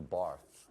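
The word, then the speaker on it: Barthes: not dude it's mr barf the s is silent you're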